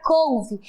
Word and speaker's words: couve: Observe que a palavra couve é escrita com E no final, porém tem o som de I.